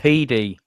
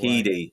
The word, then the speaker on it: Headey: So It's pronounced Heedy, by the way. Heedy.